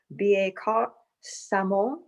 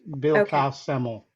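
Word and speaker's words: Billecart-Salmon: You taught me how to say this, and I'll try to say it correctly. Bieka Samo. Close, Bill Semmel.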